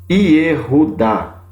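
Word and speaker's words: יְהוּדָה: shevá aqui de baixo, que você vai pronunciar Yehudá.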